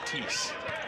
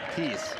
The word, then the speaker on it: Teese: Barbara says that the last name is pronounced like Teese. Teese. Thank you. Yes. Yes. So we're gonna go with Teese.